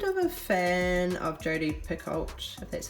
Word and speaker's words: Picoult: through I'm kind of a fan of Jodi Picoult that's how you say her name her Thomas